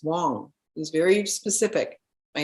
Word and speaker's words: Wang: name was Wong and he explained how it's w-a-n-g but it's pronounced Wong it's like oh okay